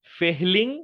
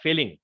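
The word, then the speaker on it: Fehling: Copper hydroxide এবং sodium হাইড্রোক্সাইডের মিক্সচারকে বলে হচ্ছে ফেহলিং বা ফেলিং, মানে এই যে একভাবে উচ্চারণটা করলেই হয়, এই ফেলিং সলিউশন বা ফেলিং দ্রবণ।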